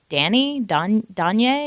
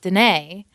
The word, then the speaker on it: Danee: my middle name, but it's Danee with an accent. And so most people just look at it and they're like, Danye, and it's Danae.